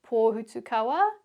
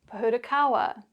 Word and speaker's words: pōhutukawa: Well, what you can see or hear in these examples is both the Māori pronunciation, pūkeko, manuka, kōwhai, pōhutukawa, tarakihi, and the anglicised version, pūkeko, manuka, kowai, pahurakawa, teraki.